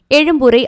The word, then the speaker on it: எழும்பூர்: எழும்பூரை ஆங்கிலத்தில் எக்மோர் என்று குறிப்பிட்டு வந்த நிலையில் இனி எழும்பூர் என்றே அழைக்க வேண்டுமென தமிழக அரசு ஆணை வெளியிட்டுள்ளது. அதேபோல திருவல்லிக்கேணி என்று இருப்பதை ட்ரிப்ளிகன் என்று இனிமேல் உச்சரிக்கக்கூடாது, திருவல்லிக்கேணி என்றே உச்சரிக்க வேண்டும்.